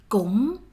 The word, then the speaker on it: cũng: you see cũng in one of the very first Vietnamese lessons of yours, meaning also, too, as well. Close your mouth when you pronounce this word. Cũng, cũng, cũng.